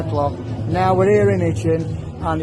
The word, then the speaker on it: Hitchin: So, Al, you're in Hitchin, or Hitchin as other people call it. Depends where you're from, I suppose. I don't pronounce my H's.